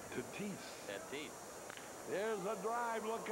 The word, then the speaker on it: Tatis: Just put the S on it and you got it. Tatis.